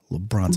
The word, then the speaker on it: LeBron: LeBron's a bum. Lincoln, you said it wrong. It's LeBron.